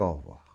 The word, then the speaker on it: au revoir: e de re voir cette lettre e quand on parle un peu comme ça rapidement au revoir on ne l'entend pas et ça c'est très